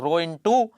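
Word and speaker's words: rho: क्या पढ़ते हैं रहो इंग्लिश में आर एच ओ यह इसकी स्पेलिंग है ठीक है रो पड़ा जाता है इसे और हिंदी में उड़ते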